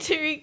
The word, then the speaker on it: Tareq: That's how he told us to yeah, pronounce it, though, was he Tareq. introduced himself as Tareq. As Tareq. Hi, I'm Tareq.